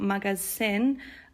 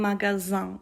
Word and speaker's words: magasin: And the S sound is not like S in English. It's not magasin, un magasin. It's like a Z sound, okay?